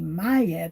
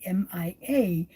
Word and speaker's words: Mia: Um, but in English, especially, some people tend to call me Maya because they see the MIA and they're like, and I'm like, no, you don't need to say it like a Y. It's kind of like like me, the word me, and then an A and at the end of it, so Mia.